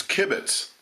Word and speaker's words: kibitz: It's kibitz.